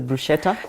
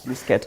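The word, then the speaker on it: bruschetta: way you say this a brusketa a brusketa there you go most pronounce it as Bretta it's brusketa yes so me I'll get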